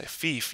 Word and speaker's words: Fief: tell me about um a game called Thief which is spelled f what is it FF yeah fief you can look that